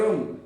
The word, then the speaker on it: रं: बीज कौन सा है र र पर ऊपर चंद्र बिंदु और रम इसका उच्चारण कर ये